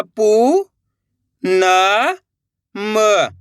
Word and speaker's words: पूनम: अपन बड़ू की मात्रा पढ़ रहे हैं तो खींच के पढ़ेंगे।